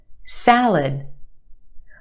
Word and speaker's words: salad: Where's the stress in that word? Salad. If you said the first syllable, you're right. The a sound in the first syllable. Salad. The second syllable is our schwa. L. L. It's said very quickly. And we have that h sound. L. L. Salad.